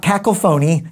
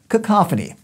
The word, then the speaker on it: cacophony: context next up cacophony it's not cackle phone II got that call phone you know cacophony we're fun to say